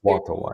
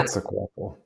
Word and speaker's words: Quetzalcoatl: Quetzalcoatl, I think. Ah, Quetzalcoatl, yeah. okay. Quetzalcoatl? Yeah. Quetzalcoatl.